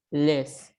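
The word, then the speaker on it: laissent: Conjugado sería il, les. ¿Por qué? Porque la ENT no suena.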